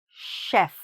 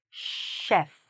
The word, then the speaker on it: chef: What's tricky, here, for many students, and especially from certain language groups, is... And even in English, very often, the "ch" is like a "ch" sound, right? Makes sense. Like "chimney". Okay? Or "chipmunk", or "chop". Then the "ch" is like a "ch" sound, but here, it's not. It's like when we say... Sometimes to children, we say "sh", that's the sound we need, here, "sh", "chef".